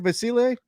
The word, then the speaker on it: Yabusele: The Nuggets interested in Yabusele Micic. Did I say it correct? Yabusele? You did. Yeah, I did. Okay. I'm always, well done. Hesitant when I'm pronouncing his name, but the Nuggets have some interest in him.